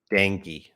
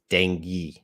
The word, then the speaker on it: Dengue: me get the pronunciation danky I was wrong dangy I've never said that before so that's pronounced Dengue Dengue in English Dengue all right oh